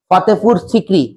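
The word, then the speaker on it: Fatehpur Sikri: যেটা কে বানিয়েছিলেন এমপার আকবার কোথায় ফাতেপুর সিক্রি উচ্চারণ এটা জাগার নাম ফাতেপুর সিককরি এফ এটি ফাতে পি ইউ আর ফাতেপুর সিককরি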